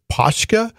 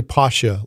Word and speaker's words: Pasha: And I mispronounced a new Patreon subscriber last year, I think, as Poshka. And it's actually Pasha, like Tasha.